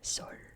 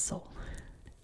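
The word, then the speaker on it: Seoul: it in American English or in Korean it would be Sor, right? Sor in English it's soul.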